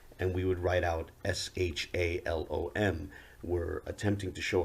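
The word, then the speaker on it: שלום: to our ancient evidence understood to be pronounced shalom they would gms members would say it's pronounced shalawam but whatever the case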